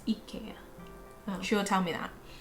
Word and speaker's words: IKEA: from germany and apparently it's not ikea it's ikea she will tell me